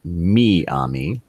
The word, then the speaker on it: Miami: ever lead anything okay from the great city of Miami or as the yes some of the locals pronounce it me ami let's see police say